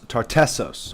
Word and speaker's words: Tartessos: amazingly in the Bible that is correctly pronounced as tartessos which appears amazingly in